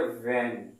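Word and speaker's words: when: देख लीजिए, original pronounce इसका ये है, बट लोग इसका सही प्रोनाउंस नहीं करते हैं। बहुत लोग भाट कह देते हैं, बहन कह देते हैं, भाई। देखिए, क्या कोई भाई है किसी का? ना तो ये किसी का भाई है, ना तो ये किसी की बहन है। लोग ऐसे ही प्रोनाउंस करते हैं। ये भैया बिल्कुल गलत है।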